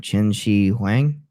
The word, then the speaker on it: Qin Shi Huang: Qin Shi Huang, because Q is Yeah. Ch sound, right?